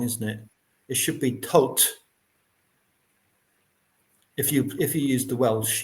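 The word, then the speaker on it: Thoth: Like hot with a t at the front and a t at the end.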